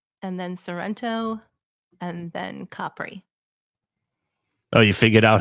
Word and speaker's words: Capri: then sento and then Capri oh you figured out how to pronounce it like a local huh it's not it's no longer Capri it's Capri it's Capri capr okay I didn't know